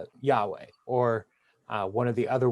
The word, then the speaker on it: Yahweh: they would say Adonai instead of actually saying Yahweh. Or one of the other ways that people have been pronouncing it for hundreds and hundreds of years is Jehovah.